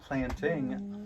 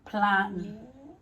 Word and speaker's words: plantain: I'm not planting. It's plantain. Plantain. Now it sounds like you're planting a tree.